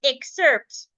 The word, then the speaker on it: excerpt: yes the word excerpt the word excerpt is a noun exerpt it is a noun and it has two syllables so if I divide it I'm going to have and sert so because this word is a noun the rule says that the first syllable the E ex should be stressed so now that we